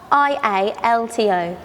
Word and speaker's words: Rialto: Okay, now the next one, I'm not quite sure how to pronounce the name, if I'm completely honest with you. Reliant Rialto? Rialto, is it a Rialto? Rialto. R-I-A-L-T-O. Rialto. Rialto. There we go. We got there in the end.